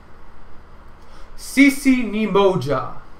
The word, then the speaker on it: Sisi Ni Moja: So we're going to move right along to the pronunciation of the text. So repeat after me. Heya! Heya, heya! Sisi Ni Moja. Sisi Ni Moja.